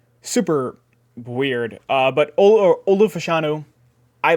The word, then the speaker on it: Fashanu: Olu Fashanu, A lot of people pronounce his name super weird. But Olu Fashanu, I like him a bit, but I've ever